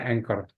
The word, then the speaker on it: anchor: ada tombol bendera ini tulisannya Ancor ya cuman bacanya anchor nah ini kita klik